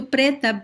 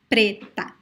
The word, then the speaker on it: preta: So the word preto, preta both have closed pronunciation. Preto, preta. Both are closed, okay?